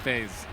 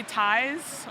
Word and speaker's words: Theys: Did I say Theys, yes. I you said it right? I'm so... Everybody always says it wrong. So really? What do people say? They always say ties or.